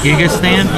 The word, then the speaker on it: Gigastan: Then we've got 3 of this guy right here, which I always have trouble pronouncing his name. Gigastan? Yeah, Gigastan.